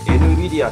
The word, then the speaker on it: NVIDIA: 的なメーカーが nvi caia と書いて nvidia と言いますあと amg ですいわゆる